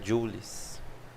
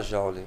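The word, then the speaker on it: joule: j ou Jes tá a pronúncia na verdade a pronúncia correta é jul mas vamos falar ja acho que a maioria tá acostumada assim né então vamos falar mas o certo meso seria jul então 830 beleza Então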